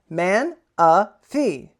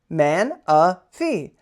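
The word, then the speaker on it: Manaphy: Uh for everyone's favorite segment of the day, Pokemon pronunciation of the day. All right, here we go. Man a fee. Man a fee.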